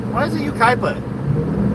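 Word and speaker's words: Yucaipa: If it's Ukaipa, why don't they spell it like Ukaipa? Kai. Why isn't it Y-U-K-Y-P-A? Ukaipa. That'd be Ukipa. Ukaipa. Or Y-U-K-I-E-P-A. Ukaipa. Yeah, that'd be better. Ukaipa.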